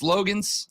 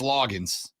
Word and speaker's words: Loggins: Yesterday, Sports Illustrated, via their website, Fan Nation, reported that Dow Logans, I think it's Loggins, is the correct pronunciation.